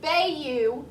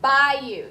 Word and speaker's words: bayou: Now that word looks like bayou, but you say it bayou.